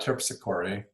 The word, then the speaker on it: Terpsichore: An older couple, Serenata Terpsichore, so it rhymes with hickory, and her husband, Remington